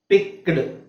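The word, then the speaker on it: picked: ಡ ಒಟ್ಟಿಗೆ ಬಂದ್ರೆ ಉಚ್ಚಾರಿಸಬೇಕು ಅಂದ್ರೆ ಕ ಮತ್ತೆ ಡ ಬಂದ್ರೆ ಈ ಡ ಹೇಳಬಾರದು ನಾವು ಇದು ಕ ಮತ್ತೆ ಟ ಹೇಳಬೇಕು ಅವಾಗ ಏನಾಗುತ್ತೆ ಪಿಕ್ಡ್ ಅಂತ ಇರೋದು ಪಿಕ್ಡ್ ಓಕೆ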